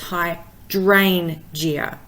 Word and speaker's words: hydrangea: So for example, hydrangea, because it has got more than 3 syllables, the 3rd syllable from the end is the D-R-A-N, the dran. So it's hydrangea.